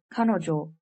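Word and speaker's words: 彼女: learn a new vocabulary word this word is pronounced as kanojo which means she in japanese let's do some practice how would you say she is not a housewife in japanese the answer is kanojo washoku Jameson so let's look at this sentence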